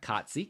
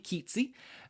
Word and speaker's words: Keatsy: But the women's 1,500-meter run, Jean Keatsy, I think is how it's said. Okay. Not Kotsy, Keatsy.